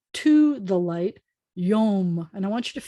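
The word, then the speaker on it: יום: So you have to call to the light, Yom. And I want you to feel how that word sounds. Yom.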